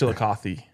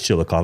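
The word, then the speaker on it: Chillicothe: Connor Rutherford, a 2027 offensive tackle, 6'6, 300 lb from Chilikoth, Ohio. Wow, nice pronunciation, bro. I think it's Chilikothy. No, it's Chilikov.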